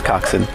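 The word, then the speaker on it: coxswain: in your heads coxen I'm told this just in I hear it's coxen okay we have confirmation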